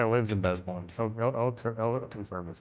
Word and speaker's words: Des Moines: Uh Des Moines.